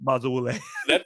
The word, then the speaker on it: Bazawule: That's really weird, but Blitz Bazawule. That's a better pronunciation than I was doing.